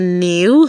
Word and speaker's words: knew: The silent K, when you see K and N together, it's going to take the sound of letter N, while the K is silent.